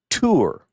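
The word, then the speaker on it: תור: It is typically the the the form that I want to focus on is pronounced tour. Tour just like you go on a tour to the holy land, right?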